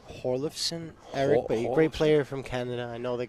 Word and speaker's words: Hjorleifson: do you notice gentlemen I pronounce it Hall of sin right yes yeah he's he's threatening to go up on it huh I think I think it's like hjorleifson a great player from